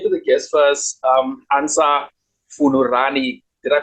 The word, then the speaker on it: Fungurani: Ansa Fungurani. Did I pronounce it correctly, Mikey? The surname. I'm not. It's it's Ansa Fungurani. So it's Fungurani.